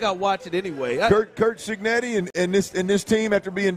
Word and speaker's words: Cignetti: Kurt Cignetti?